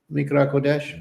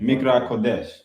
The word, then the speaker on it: Mikra Kodesh: Just like on our weekly Shabbat, it's commanded that we come together for how you pronounce it? Mikra Kodesh. Mikra Kodesh.